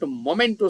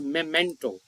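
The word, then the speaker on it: memento: number 85 the statue is the MTO not momento students Point noted it is pronounced as Moto the statue is the m of our trip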